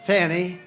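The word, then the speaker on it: Fani: after another you had fonnie f a n i which is usually pronounced Fanny she added a little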